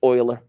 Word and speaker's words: Euler: time do it say again it's euler it's pronounced euler yes leonardo euler around age 30 he went